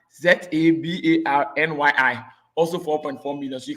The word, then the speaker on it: Zabarnyi: Zabani. Zabarnyi.